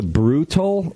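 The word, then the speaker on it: Brewtal: the podcast I think it's called the brutal like like brutal but it's spelled b r e w the brutal battle podcast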